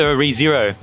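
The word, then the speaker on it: Re:Zero: this massive Ram collection uh so you're into rezero uh yeah does that how you say it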